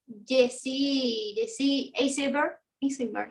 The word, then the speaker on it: Jesse Eisenberg: Está Jesse Eisenberg se pronuncia así.